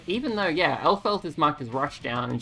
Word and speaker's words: Elphelt: Yeah, they're saying Elphelt, which is wrong. It's Elphelt. Elphelt Valentine. It could be on purpose. It could be a joke based on the fact that one of the announcer voices in the previous game couldn't pronounce her name. But May was more obvious about it. In the previous game, she went like, Erferu, rather than going, just saying it wrong.